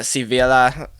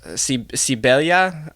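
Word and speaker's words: Sevilla: B Anatoly karpov in sivilla sibelia I see and I know the V is a b and the L is of Y I believe in Spanish but Seville we'll stick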